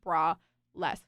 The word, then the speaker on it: Braless: to spell it out I'm like Bress like no bra like sometimes you even